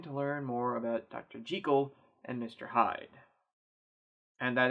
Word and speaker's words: Jekyll: Jekyll and mr. Hyde and that actually is the correct pronunciation written by Robert Louis Stevenson and published in eighteen eighty six The Strange Case of dr.